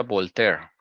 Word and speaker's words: Voltaire: tiempo con eso es voltaire se pronuncia voltear Ok françois a objeto